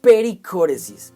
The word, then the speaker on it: pericóresis: Pericóresis es una palabra griega usada altamente en las esferas teológicas. Por ejemplo, palabras como perímetro y círculo vienen de la primera sílaba peri, y danza armónica viene del griego kóresis, lo que quiere decir que pericóresis es como una danza.